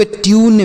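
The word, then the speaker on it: tune: यू के बाद अगर एक अक्षर छोड़ने के बाद इ लिखा हो तो यू के रूप में क्यूब, ट्यून, म्यूट, क्यूट, ब्यूट।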